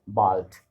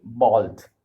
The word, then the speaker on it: bald: Write bald. Bald means soon. In English we have bald. Bald means someone who doesn't have hair. Okay. There. Okay. So schreib bald. Schreib bald. D will be pronounced as T, and I have heard